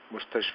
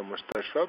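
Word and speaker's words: مستشفى: Again mustashfi we will not read, we will read the mustashfa because alif here over the ya is hidden, that's why.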